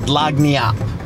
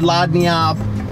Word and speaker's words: lagniappe: got to go the G is silent would have known we're learning stuff every single day are you feeling it me too can anybody tell me the definition of Lonnie up anybody something giving as